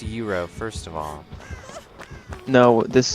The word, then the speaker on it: gyro: so weird that that's happened I like Arby's Gyros okay I'm not gonna front as they say it's pronounced Euro first of all no this is America Americans